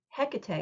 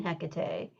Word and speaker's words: Hecate: Um, And there is a lot of discussion about like pronouncing Hecate as well, and even spelling Hecate. So, when we're talking about what I would call like anglicizations or making it an English word from words that come from ancient Greek or Latin, that there's different ways you can say it, Mm. and that it's okay. You get different ways to spell it, but we're still talking about the same figure.